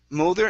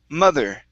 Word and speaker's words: mother: right this word here instead of molder mulder it's ma mother mother mother okay and last